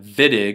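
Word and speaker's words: Wittig: you can think about the vidic reaction as pronounce it viig like a V you can think of the viig reaction as the opposite of ozonolysis we're taking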